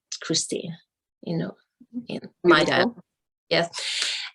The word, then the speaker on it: Kristin: is actually it's pronounced christine it's spelled k-r-i-s-t-i-n okay but i pronounce it christine you know my dad